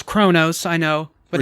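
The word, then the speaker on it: Qo'noS: overlord of vulcan dominus of konos which they pronounce chronos i know but it's spelled konos regina andor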